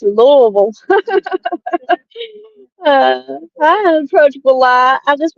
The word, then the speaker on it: Louisville: how to say it some people about Lewisville no it's Lille I approachable lot I